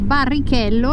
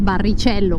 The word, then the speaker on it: Barrichello: Però ho scoperto qui in Brasile che in portoghese Barrichello non è barricello come in spagnolo, ma Barrichello come lo pronunciamo noi italiani.